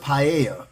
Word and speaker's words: paella: I've heard it pronounced paella. It depends. You say pa, but I heard pa because the double L is I mean no the L is Y. Sorry. The double L in Spanish when it was in